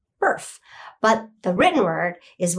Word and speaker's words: Barf: Actually, it's pronounced Burf, but the written word